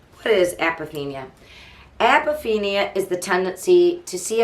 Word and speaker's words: apophenia: And it's called APOPHENIA. And I think it's pronounced, with my dyslexic detective, I'm going to tell you, I need to see it exactly. I wrote it out phonetically. Apophenia. I believe it's apophenia. Apophenia.